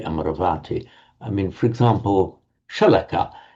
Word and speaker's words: Amaravati: So the abode of the immortals or the abode of im immortality and with the with the lengthening before that not Amaravati but Amaravati.